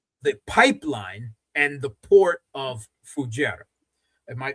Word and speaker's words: Fujairah: Moreover, what they hid in the UAE is the pipeline and the port of Fujairah. Am I pronouncing that correctly? Fujairah.